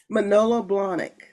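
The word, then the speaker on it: Manolo Blahnik: Sylvia, pronounce it, please. Manolo Blondic.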